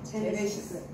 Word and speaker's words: 제네시스: 제네시스. 에레스트? 제네시스.